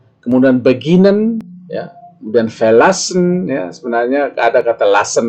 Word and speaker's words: verlassen: Di sini adalah penekanan pengucapannya itu berada di bagian yang saya cetak tebal di tengah, ya. Beginnen, erklären, verbessern, verlassen, verstehen, wiederholen, ya. Itulah, ya.